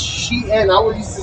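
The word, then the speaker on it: Shein: I didn't even know how to pronounce it. It's Shien.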